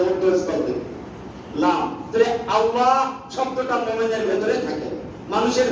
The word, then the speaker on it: আল্লাহ: স্তর থেকে লাম তাহলে আল্লাহ শব্দটা মুমিনের ভেতরে থাকে মানুষের ভেতরে থাকে না বাইরে থাকে ঠোট লাগে না উচ্চারণে ঠোটের কোন অক্ষর নাই ঠোট দিয়ে যে মিম